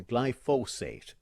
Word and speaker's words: glyphosate: For the science teachers who are listening, glyphosate is the correct pronunciation.